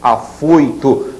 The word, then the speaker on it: afoito: Olha a diferença de pronúncia. Chapéu, som estridente. Judeu, som abafado. Herói, som estridente. Afoito, mais abafado.